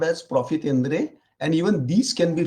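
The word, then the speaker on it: profit à prendre: Then there is another concept called profitendre. That's a French word, obviously. It is spelled as profit, Prendre, but pronounced as profitendre.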